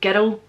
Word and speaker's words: girl: Okay, I mentioned in the last video that when we say girl and world, it's almost like two syllables because we're not saying girl all in the one-y, we're saying girl, girl.